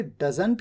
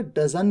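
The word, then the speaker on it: doesn't: Advance English में in fact T को silent भी कर दिया जाता है, तो आप इसे डजंट की जगह डजन भी कह सकते हैं, डजन।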